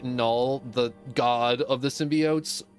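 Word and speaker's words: Knull: it and they call null but it's like spelled with a K so instead of like null as in N L it's K and u l l and the K is silent you go we can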